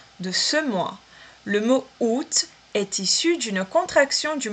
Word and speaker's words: août: Août. Atenção a essa pronúncia. Août. Curiosamente, eu tenho que pronunciar esse T aqui, né?